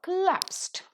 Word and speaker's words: collapsed: Instead of the two letters of L that is used in the spelling, for the pronunciation we use only one L sound, and so it is a custom to put the stress mark between the two letters that are repeated.